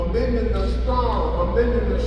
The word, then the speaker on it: amygdala: I said, I said, you got the name right. I said, but you're not pronouncing it right. It's the amygdala.